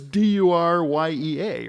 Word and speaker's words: Duryea: I didn't know how to pronounce it. Because it's Duryea, right?